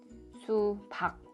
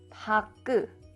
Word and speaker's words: 수박: If you pronounce like 부엌, 부엌, that means you didn't block the air.